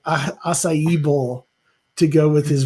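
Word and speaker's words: açaí: has like some sort of some people say Akai they're saying like 12 different ways but I always get told is it's pronounced acai so now I've gotten used to saying it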